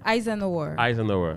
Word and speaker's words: Eisenhower: C'est comme ça que moi je prononce. Allez-y. Eisenhower.